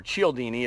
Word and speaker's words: Cialdini: Now, these are adapted from Robert Cialdini, or Cialdini, if you pronounce it the Italian.